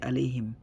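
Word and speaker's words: عليهم: It comes from the middle part of the throat.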